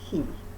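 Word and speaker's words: Caye: Ambergris Key, they call it. C-A-Y-E is spelled key here, pronounced key.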